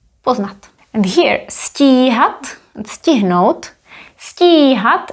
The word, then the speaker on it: stíhat: Stíhat is phonetically longer. Stíhat, stihnout. It is visually longer, but it doesn't have an accent.